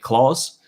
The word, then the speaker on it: Klaus: Klaus, I pronounce his name as Klaus with a K. But for all I know, as far as he's writing it, he's just pronouncing it Claus.